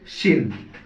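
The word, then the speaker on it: ش: আর তিন নুক্তা দিলে শিন। সিন আর শিন উচ্চারণ হবে একটা সোস শব্দ, দন্ত স দিয়ে সিন, তালিবর স দিয়ে শিন।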